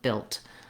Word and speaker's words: built: The main difference of course is the voiced D sound on build and the voiceless T sound on built.